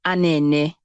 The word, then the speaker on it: Anene: So, what is the meaning of the name Anene, if I got that correctly? Okay, so it's actually pronounced as Anene.